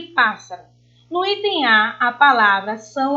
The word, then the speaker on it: pássaro: No item C estão as proparoxítonas, já que a sílaba tônica é a antepenúltima.